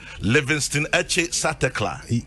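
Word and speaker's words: Livingstone Etse Satekla: Oh, Oba Livingston Eche Satekla. Perfectly pronounced.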